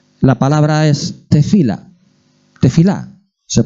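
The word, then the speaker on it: תפילה: crónicas era oración la palabra es de fila de fila se pronuncia así y significa oración significa intercesión intercesión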